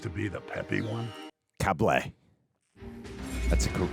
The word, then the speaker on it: Cable: Cable. That's a correct pronunciation.